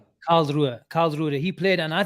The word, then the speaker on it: Karlsruhe: Talking of kids, Avi, Conor Bradley played the inverted role, with, how do you pronounce that team? Krusler? Karlsruhe.